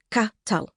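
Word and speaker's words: কাঁঠাল: known in Bangla, pronounced katal, with a hard emphasis on the t sound.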